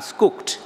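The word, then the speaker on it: Schucht: যাদের ফ্যামিলির নাম জার্মান নাম দেখবেন স্কুকট এস সি এইচ ইউ সি টি বা সি এস এইচ টি স্কুকট family ইংরেজরা হয়তো স্কাক্ট বলবে এটা জার্মান রাশিয়ান ফ্যামিলি এবং বলা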